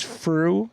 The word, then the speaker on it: Frueh: By the way, when when you introduce me, remember my name is Fu. It rhymes with true. It rhymes with blue."